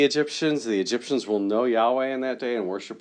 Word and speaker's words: Yahweh: are pretty sure that the tetragrammaton is supposed to be pronounced Yahweh because of writings in Egypt so anyway Harry engravings